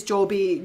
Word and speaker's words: Joby: Um but if you think of the word if I have a job, it's J O B. So it's it's Joby Joby Airlines or Joby Services.